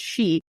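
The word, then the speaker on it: sídhe: the she which is pronounced or sorry is pronounced she but is spelled s i d HS there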